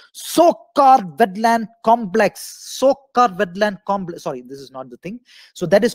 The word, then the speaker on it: Tsokar: Don't worry, the 42nd wetland site, that is called Tsokar. T is silent. Tsokar Wetland Complex, very, very important.